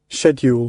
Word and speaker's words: schedule: say it again buddy schedule that's the English way to say it schedule is that it